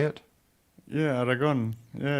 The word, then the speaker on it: Aragon: Yeah, Aragon.